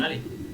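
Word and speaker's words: ألف: নাম হচ্ছে আলিফ সবাই বলেন এটার নাম কি আলিফ আলিফ আলিফ তো এই আলিশ অক্ষরের ভিতরে আমাদের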